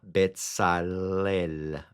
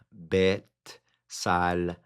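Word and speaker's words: בצלאל: Betalel. Betalel. Betalel. Ese es en el hebreo. En el español se dice bezaliel. Besaliel. En en el hebreo se dice Betalel.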